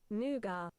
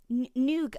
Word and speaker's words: nougat: Here is how it's pronounced. Nougat. Nougat. Apparently the British pronunciation for it is nougat. Nougat. Apparently that's how it's pronounced in the UK. Okay, well that's new for me. That's very, very new. Why is there a T? It's silent, apparently. That's weird.